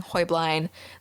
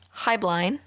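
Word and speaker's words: Heublein: the founder of hoyblind now the pronunciation of joyblind is debated with the actual german pronunciation of the name being hoyblind then as they immigrated to the united high blind and then once they were purchased by another company hubline but i will continue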